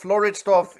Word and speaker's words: Floridsdorf: And as a director of what you want, your pronunciation of Floridsdorf is perfect.